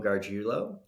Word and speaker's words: Gargiulo: Today we have one of the most focused entrepreneurs I have ever met, April Gargiulo.